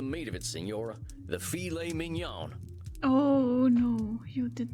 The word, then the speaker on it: filet mignon: Filet mignon. But still, you don't want to say it like that. Sounds right to me. Amateur. Filet mignon.